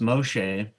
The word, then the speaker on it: Moshe: zipporah uh anyways so moshe pronounced moshe uh which is from